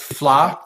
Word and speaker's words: Fleadh: It's kind of the spiritual succession to the old FLA festival, once again spelled FLEADH, and I had to look up the pronunciation of that too.